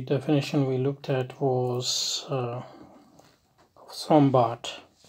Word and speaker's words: Sombart: we looked at was sombat or if i pronounce it in a proper german wave probably it would be zombot um so zombot um